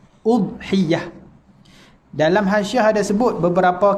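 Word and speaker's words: أضحية: Dan cara bacaan dia kata bi dhammil hamzati fil ashhar. Baca dengan dhammah hamzah. Udhiyah.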